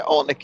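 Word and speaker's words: Oleinik: Hunt versus Olenek, I think is how you say that name. Yeah, Olenek, yep.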